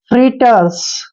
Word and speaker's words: fritters: एफ का उच्चारण हम फे करते हैं और आर को हम रे लिखते हैं, आई को ई की मात्रा लिखते हैं। और डबल टी का उच्चारण टे करेंगे, ER को हमने रे पढ़ना है और एस को से।